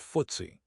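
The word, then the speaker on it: FTSE: Footsie httpwwwcy comm includes the 100 largest companies on the London stock exchange pronounced footsy originally stood for financial times stock exchange nik httpwww nik cojpnikinfo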